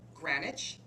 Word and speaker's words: Granich: And we're speaking with Granich. Please correct me if I've mispronounced it. Hello, Granich, that's perfect.